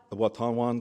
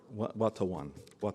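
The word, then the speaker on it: Watonwan: counties nobles county and please forgive me i'm struggling with this word watanwan county yes how do you say that to one one to one thank you i practiced so last night and this morning i still get it wrong i tried and here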